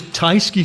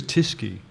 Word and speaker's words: Tysky: Paul Mason hey dimple I thought it was theis key so I never knew it was to ski I I just realized that rhymes with whiskey it does as in